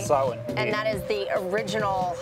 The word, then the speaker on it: Samhain: So you just said it's pronounced Samhain, right? Samhain.